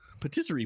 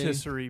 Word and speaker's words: patisserie: as Patisserie Peach. Yeah, exactly. Oh, I thought So it I said got to play- rotisserie peach.